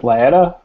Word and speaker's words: Laetta: Yeah, my name is Laetta, rhymes with pancetta.